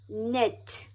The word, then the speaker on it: knit: Knit. Knife. Very good. Let's do it again, and this time we will spell it out.